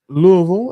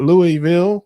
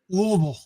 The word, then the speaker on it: Louisville: She is in Louisville, as they say, not Louisville, like some people would say. You got to say it like you have something stuck in your throat, like Louisville, like that.